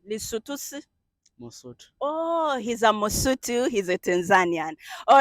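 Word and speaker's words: Mosotho: Oh, he's a Mosutu.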